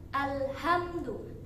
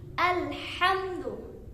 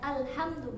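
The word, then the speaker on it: الْحَمْدُ: Ha, bukan alhamdu, tapi alhamdu. Ya, banyak sebagian orang ya, rata-rata memiliki kesalahan ketika membaca alhamdulillah. Salahnya di mana? Ya, hanya itu bukan ha kecil tetapi membacanya ha besar, alhamdu bukan alhamdu. Jadi yang benar mana? Alhamdu.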